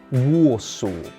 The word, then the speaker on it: Warsaw: Finally, the capital of Poland is pronounced Warsaw.